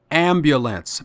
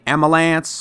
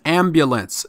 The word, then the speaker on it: ambulance: the word ambulance is pronounced ambulance many of us say amulance or amals but the word is ambulance say it with me ambulance for more tips buy the book asks or